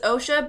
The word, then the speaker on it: OCSA: I think we're still gonna pronounce it OSHA, but it's spelt OXA. Don't let that confuse you.